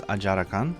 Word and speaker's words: Ajarakan: In Japanese, it's Ajarakan, so same way.